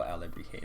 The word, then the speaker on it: alebrije: So this is sort of alebrije. It's more like a pattern panda. So I'm just gonna think so. But if we want to make this feel like a real alebrije, I'm gonna do one that's more of a pattern.